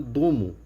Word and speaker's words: Dome: O projeto, né, chama Dome ou pronunciado Domo ou sonho de criança, em japonês, né, seria a tradução, foi